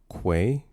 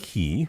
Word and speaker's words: quay: It's pronounced quay. Uh, say it with me now. With a Q. With a Q. Quay. Quay. Not key. I don't know who says key.